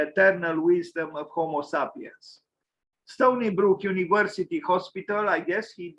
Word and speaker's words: Stony Brook: Bertrand Goldberg, Sony University, the Sony. It's actually Stony Brook. Sorry, I pronounced wrongly.